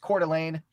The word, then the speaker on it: Coeur d'Alene: It is a Bricks & Minifigs Coeur d'Alene. That's how you pronounce that, Coeur d'Alene.